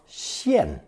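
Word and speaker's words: 见: In the previous installment, I did not mention that jian, meaning to see something, was originally a split sound character, 破音字, with a second pronunciation of xian, meaning to appear, within the line of sight of that enormous eyeball.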